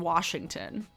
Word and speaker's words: Washington: But yeah, anybody who says salmon or Oregon or Washington, why? There's no R in Washington.